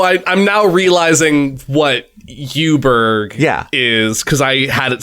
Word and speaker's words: Eweburg: the Inn okay uh the u tree but U is spelled ewe like the town mhm it's a female sheep Griffin no I I'm now realizing what Yuber is cuz I had